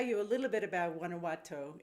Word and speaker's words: Guanajuato: by the way i'm not even trying to pronounce the name of the town susan can you say that for me it's guanajuato mexico guanajuato mexico okay now i could say it and